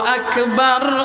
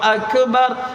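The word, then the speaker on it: أكبر: যে হের ভুল হইতেছে এখানে এটা কাফ কি বলেন তো এটা কি গইন না কাফ একটা বর্ণ গয়ন আরেকটা বর্ণ আরবিতে আরবিতে না তার মধ্যে কাফ একটা গাইন আরেকটা আল্লাহু আকবার কইলে এটা গাইন হয়ে যায় অর্থই পরিবর্তন হয়ে যাবে অর্থ ঠিক থাকবে না এজন্য খেয়াল করবেন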